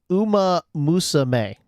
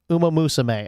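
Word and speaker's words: Uma Musume: It's it's it's pronounced Uma Musame. Uma Musame.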